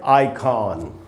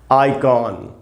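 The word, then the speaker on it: icon: आइकॉन नहीं होगा दोस्तों इसका उच्चारण है आइकॉन। आइकॉन आई आई में जो आ है उसी प्रश्न से उधर ज्यादा रुकना चाहिए।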